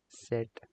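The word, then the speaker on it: Zett: handful but that's what it is Zed let pronounced as set just just like we looked up it's similar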